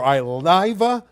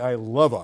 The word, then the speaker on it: Ileva: Also, congratulations in order for Iliva Brigington from Oaks Christian. She had 3 homers the other day in a big win. It's actually Ileva. I think that's how she pronounces it.